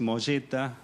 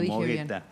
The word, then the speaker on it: Mogetta: discusión con Gabi civila si es molleta o moeta molleta verdad se dice es es italiano el apellido Así que es molleta la pronunciación correcta porque todo el mundo me conoce como mogueta Y usted cómo lo